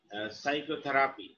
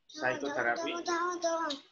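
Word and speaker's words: psychotherapy: এটাকে বলা হয় থেরাপি সাইকোথেরাপি এস এস ওয়াই টি এইচ ও টি এইচ ই আর এ পি ওয়াই সাইকো মানে পি টা মানে সাইলেন্ট তো সাইকোথেরাপি দিস ইজ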